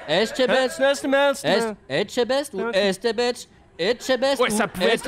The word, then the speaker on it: Etchebest: Comment ça se prononce? Etchebetch? Etchebest ou Estebetch? Etchebest Ouais, ou ça pouvait être Estebetch, je sais Jean-Pierre pas du Coff, tout.